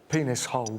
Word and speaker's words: Peniserly: is your name peniserly well it's pronounced penis whole but yes it is truth